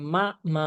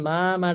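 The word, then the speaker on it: 妈妈: তাই দেখেন, মাদারের চাইনিজ উচ্চারণ হবে মা মা, মা মা, মা মা। কোনো অবস্থাতেই মা মা, মা মা, মা মা এভাবে উচ্চারণ করা যাবে না, ঠিক আছে।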